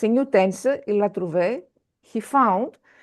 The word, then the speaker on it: trouvé: Il a trouvé. He found. Here you see l'accent aigu. L'accent aigu means we pronounce it. Il a trouvé. L'accent shows you that you need to pronounce.